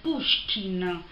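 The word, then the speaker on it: Pushkin: figlia del capitano di puskin che in realtà stando a quello che dice wikipedia si dovrebbe pronunciare puskin quindi molto napoli io come cognome russo ma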